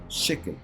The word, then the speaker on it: shekel: En hebreo, la palabra se escribe con una shin y se debiera pronunciar con esa sh, shekel. Pero en arameo, usualmente se cambia la shin por la taf, y por eso escuchamos no shekel, sino tekel, tekel o tekel.